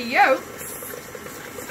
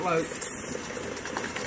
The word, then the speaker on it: yolks: my sugar to the yolks. You add the other half of the sugar to the yolks. Yolks, not lokes. But that's how you say it in a Scottish accent.